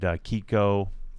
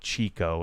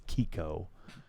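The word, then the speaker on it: Chicco: So we always did Kiko. I think that's how it's pronounced. It's not Chico. I think it's Kiko.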